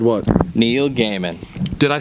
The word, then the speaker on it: Neil Gaiman: thing, which is why I love books like Neil Gaiman's Sandman. You know, again, I can't help but mention Jason Aaron's Thor, God of Thunder. You said it right that time. I said what? Neil Gaiman.